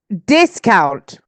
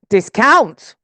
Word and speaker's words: discount: against the government let's protest against billionaires okay discount discount are you repeating I can see some of